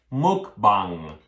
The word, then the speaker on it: mukbang: Let me read you when you type in on Google the word M-U-K-B-A-N-G. Mukbang.